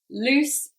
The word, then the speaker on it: loose: a very common one loose and lose loose and lose so different pronunciation as well one is longer than the other loose lose okay so